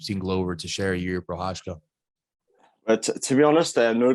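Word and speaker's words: Procházka: But I just think, like, speaking of ninjas, this Yuri guy, I can't pronounce his second name. Prochazka. Yeah, Prochazka, that's the one.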